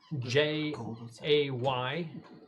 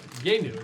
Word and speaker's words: Jeinu: For the terrific character sketches, please patronize him at symbol JAYNEW. Rather, at the at symbol Yenu. That's the pronunciation.